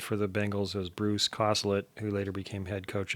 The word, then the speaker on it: Coslett: The other tight end for the Bengals was Bruce Coslett, who later became head coach of the Jets from 90 to 93. Pronounced differently. The Charlie Jones mispronounces it Caslett.